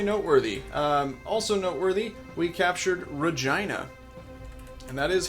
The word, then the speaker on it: Regina: Also noteworthy, we captured Regina.